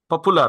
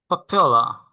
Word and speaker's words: popular: পপুলার। Popular. Popular. পপুলার বলেন না? পপুলার হ্যাঁ। আসলে ভুল উচ্চারণ, যদিও আমরা সবাই বলি। হুম, আমিও হুম। আমিও 1 বছর আগে পপুলারই বলতাম। এটার সঠিক উচ্চারণ হচ্ছে পপ্পেলা। পপ্পেলা।